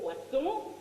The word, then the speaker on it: poisson: It's all in the spelling and the pronunciation. Poisson, 2 S's, fish. Poison, 1 S, poison.